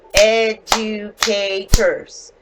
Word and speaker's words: educators: Educators. So it actually has 4 syllables.